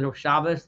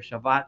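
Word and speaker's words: Shabbos: way and excuse me I'm going to use the shabas my traditional way ashkanazi way of pronouncing it but for those that want to call it Sabbath or Shabbat just know what I'm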